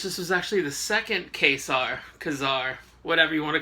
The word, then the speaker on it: Ka-Zar: Actually, what they do in the first panel of the issue is they give you a pronunciation of how they want his name to be. It's going to be ka-zar, but since I've been